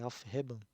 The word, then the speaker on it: Aufheben: supra-assumir, que é uma palavra alemã, se eu pronuncio corretamente, é Aufheben, que possui dois significados correntes.